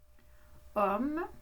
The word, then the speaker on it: homme: Homme, remarquez qu'il y a un H au début qu'on ne prononce pas, qui est une lettre muette.